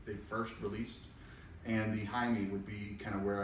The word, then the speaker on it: Jaime: So when you say Jaime, Yeah, what's the full name? Jaime Garcia. There you go. Yeah. They may not know. Well, no, I And I understand thought that. you mispronounced it and said Hyman.